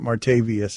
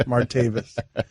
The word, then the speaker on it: Martavis: keeping us young Mikey making it martavius and it's not more tape its martavis you can't be happy